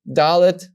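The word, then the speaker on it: ד: And you will know that you pronounce this as the sound da. So dalet, making the sound da, has the tail.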